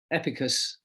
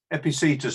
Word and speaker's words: Epictetus: He was one of the great philosophers, and he was, how I say his name, Mark? Epicus. Epictetus, I think. Epictetus, right, okay. That sounds better.